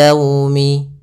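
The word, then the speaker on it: يوم: namakan dengan bacaan Lin dalam pelafalannya harus lembut liumi agar menyempurnakan makhraj huruf wau kita agak monyongkan bibir kita li yaumi ya dilembutkan yaumi kemudian padafal Yaumil di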